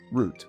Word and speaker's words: route: In the UK dub, all the characters pronounce the word route as root.